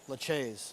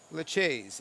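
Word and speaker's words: Lachaise: just glad that you helped me and paulie pronounce the seven's name laches yes a uh pair laches a uh a sculptor way back in the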